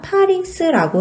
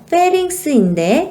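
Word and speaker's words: pharynx: 바로 인두입니다 우리 인두는요 파링스라고 해요 실제 발음은 페링스인데 8i라고 이야기를 하기도 합니다 인두에서 기억해야 될 것은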